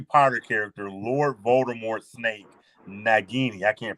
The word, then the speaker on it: Nagini: about that noise um now it is nagini um that's that's how it's pronounced and I think that's